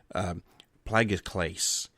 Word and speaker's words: plagioclase: you know how, guys, I'm really horrible with pronouncing words. Plagioclase.